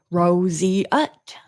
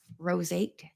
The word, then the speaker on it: roseate: Ros it good job sounds like you said Rosie UT good job well thank you what do I get what do I get for a prize Ros it good job I'm gonna try to say it wrong I'll say it the way I said it the way I thought it would be said what did I say I don't remember Roseate Rose eight Ah that's what I